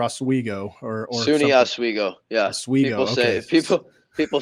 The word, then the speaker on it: Oswego: So moving on to college, and I feel like I'm pronouncing it wrong. Is it Oswego or Oswego or SUNY Oswego? Yeah, Oswego.